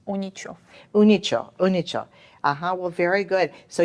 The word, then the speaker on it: Uničov: And it's pronounced? Unichov.